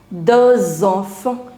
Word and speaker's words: deux enfants: De is ending with a consonant and enfant is beginning with a vowel. So it becomes deux enfants. You'll start pronouncing the last consonant as well. Deux enfants.